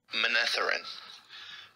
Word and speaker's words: Manetheren: Manetheren. Ma-neth-er-in. Manetheren. Manetheren? Manetheren. Wow, that wasn't so hard. Manetheren. Okay, so the stressed syllable is the N.